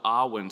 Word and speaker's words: Awen: And in doing so, we pronounce the word as if it were 3 syllables, like the 3 rays in the Awen symbol. Awen.